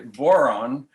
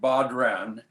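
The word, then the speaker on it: bodhrán: It's known as a boron. That's not a moron, it's a boron with a B, but it's spelled B-O-D-H-R-A-N, like Bodran, and it's played with a double-headed stick.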